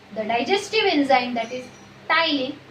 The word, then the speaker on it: ptyalin: And lastly, it secretes the digestive enzyme, that is ptyalin. Don't say patylin, P is silent. The digestive enzyme ptyalin, which is also known as salivary amylase.